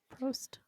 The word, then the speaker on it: Prost: hops, making this, I don't know how to pronounce this word, a Prost worthy pint. Prost.